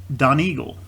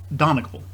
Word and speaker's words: Donegal: years ago and in my mind i've always pronounced it don eagle and that's not correct it's uh and then the viewer said no i think it's donegal and it's not this is pronounced donecal which i just learned uh because i looked